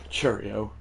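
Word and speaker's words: Chourio: Cheerio. It's how it's pronounced by the way.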